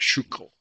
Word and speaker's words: Schuylkill: I may not have it perfect, but it does sound pretty much like Schuylkill, is how they say it.